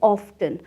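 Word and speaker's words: often: होता है अक्सर और ऑफेन को लोग दो तरह से प्रोनाउंस करते हैं ऑप्शन एंड offten दोनों ही प्रनंसीएशंस बिल्कुल करेक्ट हैं पर मैं प्रेफर करती हूं ऑप्शन उसे करना ये मुझे थोड़ा सा नेचुरल लगता है offten बोलने से ऑप्शन का मतलब अक्सर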